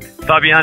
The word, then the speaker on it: Fabien: man on petlife radio my guest today is Fabian custo third generation Ocean Explorer filmmaker and environmental Renaissance Man Fabian it is a pleasure and a privilege to